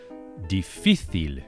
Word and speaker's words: difícil: Difícil, with the accent or the stress on the middle syllable, on the middle I.